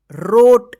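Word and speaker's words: wrote: आर ओ टी ई रोट देखिए यहां पे यहां प डब्लू भी क्या है साइलेंट लेटर है ठीक है ना तो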